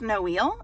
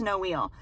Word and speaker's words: Noel: She told me it's no eel.